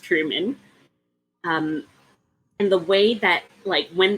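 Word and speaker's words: Trymon: I remember it was a name that is pronounced very differently than it's spelled. Truman. Truman, yes. Spelled Tryman, but pronounced Truman.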